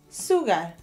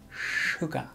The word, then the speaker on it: sugar: very bad for your teeth how do you pronounce it I forgot suger no no what the correct pronunciation is sugar sugar sugar sugar eskimo na SI r qu